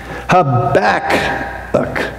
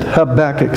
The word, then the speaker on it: Habakkuk: hard to pronounce but when you say the title of this book think of your back habac that that's how you pronounce it habac so that's the pronunciation